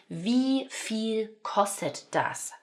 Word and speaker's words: Wie viel kostet das: this cost?", which is 'Wie viel kostet das'. 'Wie viel kostet das'. Right? So notice the 'v' sound here; the 'f' sound here, that this is making an 'e' sound.